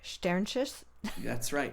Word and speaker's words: Shternshis: one of the melodies on there, scholar Anna Shternshis. No, I'm not pronouncing that right. Shternshis?